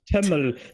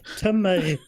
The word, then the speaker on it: Tømmer: No, not tømmel. Tømmer.